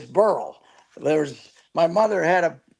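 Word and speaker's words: Beryl: about the fact that they're pronouncing the hurricane Barrel instead of burl can use you know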